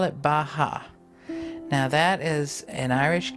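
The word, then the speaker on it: beatha: take you through bioenergetic breathing we call it bah ha now that is an irish gaelic word that means life and it's spelled DEA tha but it's pronounced baja so when we breathe in i say bah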